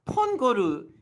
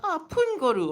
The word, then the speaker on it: Pongoru: So all the more you guys should be using this like Pongoru. It's you guys could pronounce it. You don't have to be like Pungoru, okay? Like this is the one and only way to actually say this place properly, and you guys could translate it properly.